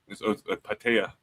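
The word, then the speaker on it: Pattaya: So, Patia Beach, they shut it down. It's called Walking Street. Patea Beach is how they pronounce it.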